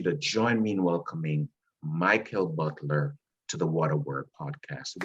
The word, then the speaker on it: Mikell: your first name and you did indicate it's a michael and um i wanted